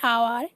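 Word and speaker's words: hour: আর এইচ দিয়ে যদি কোনো কাউন্টেবল নাউন শুরু হয় কোনো শব্দ এবং এইচের উচ্চারণ যদি আয়ের মতো হয়, আ যেহেতু স্বরধ্বনি, তাহলে সেই এইচের আগে অ্যান ব্যবহৃত হয়। অ্যান আওয়ার, an honest, an honourable man.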